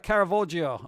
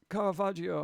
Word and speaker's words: Caravaggio: list we're out of caravoggio huh okay it's italian come on i don't understand how can you mispronounce caravaggio all right you're not part